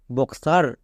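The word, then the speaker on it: boxer: গয়ে বর্গীজ না next বক্সার এখানেও দেখো এখানেও সেম কেস এক্স এর পরেই ভাওয়েল তাই এটা হলো বক্সার মানে কয় দন্ত আকার রো বক্সার তাহলে এই তিনটা ওয়ার্ড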